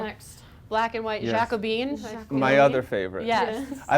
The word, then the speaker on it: Jacobean: Jacobine. My other favorite. Yes. I love this for 2 reasons. Yeah. But first, more history. Okay, Let's hear So- it. let's do it. Jacobean, which is pronounced Jacobean, Mm-hmm.